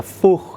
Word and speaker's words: Fuchs: I think this is the Fuchs if you That's how you say it, Fuchs style. Fuchs yeah, Fuchs yeah.